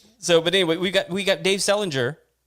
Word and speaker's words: Selinger: It's Dave Selinger, just like JD Salinger, catcher in the rye.